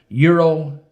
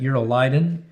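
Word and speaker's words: Euroclydon: Verse 14, not long after, a tempestuous headwind arose called Eurolydon, is how you pronounce that, Eurolydon.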